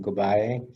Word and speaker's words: Gubae: My name is Gubae, pronounced Gubae.